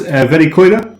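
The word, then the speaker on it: Verikoira: is it pronounced Verikoida?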